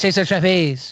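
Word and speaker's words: César Chávez: It's Cesar Chavez.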